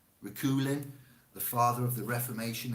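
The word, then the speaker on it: Reuchlin: this name r-e-u i can't say it i'll spell it r e u c h l i n rakulin the father of the reformation and teacher of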